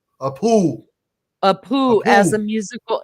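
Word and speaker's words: pū: She said, "Hawaiians use conch shell, which they call a," how do you pronounce that, Sean? P U a poo.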